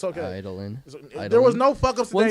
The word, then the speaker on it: Eidolon: Idolin.